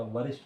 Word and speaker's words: वरिष्ठ: विरिष्ट नहीं होता, वरिष्ठ होता हाँ वरिष्ठ जो भी है.